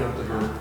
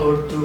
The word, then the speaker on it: Urdu: Netflix and Urdu. So, I think you're pronouncing it wrong. I'm sorry. Urdu.